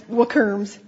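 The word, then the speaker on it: WRMs: certified research mediums or we pronounce it wookerms. Um we thought about Windbridge research mediums but then they would be worms and we didn't think that they would like that. So we it's werms.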